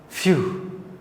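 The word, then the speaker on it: phew: F, when PH, when English words start with PH, not B, P for pen, PH, the pronunciation becomes F, few, exclamation mark.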